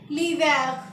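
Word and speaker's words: l'hiver: को हम बोलेंगे लीव हमने यहां पे एज को प्रोनाउंस नहीं किया है क्योंकि आप मैंने पहले भी बताया है क एच ट्रेंच में साइलेंट होता है तो हम इसको बोलेंगे लिवक सेकंड आता है हमारा समर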